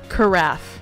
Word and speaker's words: carafe: Carafe. Carafe. Like a giraffe, but not spelled anything like it.